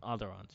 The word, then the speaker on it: Onderon: as they carry out a The series of Orderons. strikes in the capital. Orderons. Onderons. Onderons, yeah. I Onderons. see the pronunciation on here. It says Onderons, yeah.